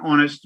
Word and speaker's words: honest: The H is silent, like we say an honest man, an honest, an heir, an heir.